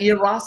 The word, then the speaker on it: Eros: One other example would be when Jesus interacted with the woman at Is that OS or uh OS? I may have mispronounced. E R O S.